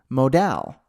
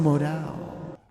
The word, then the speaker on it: modal: Launch the demo Modal. You see? But many of you just thought that sounded silly, and technically it's not how you say it. You say it Modal.